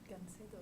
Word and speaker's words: Gancedo: Anybody know what the proper pronunciation of that is? Anybody speaks Spanish? No. Yeah, but you said it well. Gancedo.